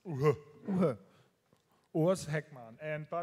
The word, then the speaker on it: u-he: It's very hard to pronounce. Uhe.